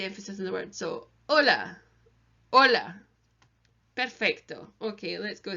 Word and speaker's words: hola: agent Spanish is silent we don't hear it it's a classic Anglophone mistake to say hola but it should be Ola Ola Ola so it's